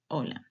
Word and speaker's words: hola: It's written with H, but you don't pronounce it. Hola.